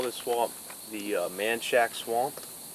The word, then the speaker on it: Manchac: They call this swamp the manshack swamp. That's Say that word again. Manshack. M- an C H A C.